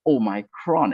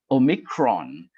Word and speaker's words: omicron: micron is uh the the pronunciation is not really oh micron actually omicron and uh some may